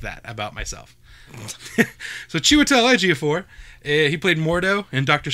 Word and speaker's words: Chiwetel Ejiofor: it and I like that about myself so Chiwetel Ejiofor he played Mordo and dr.